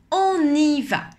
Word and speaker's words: on y va: lieu dont on parle on y va mais en général on ne sépare pas autant les trois mots à l'oral on dit plutôt on y va on y en ait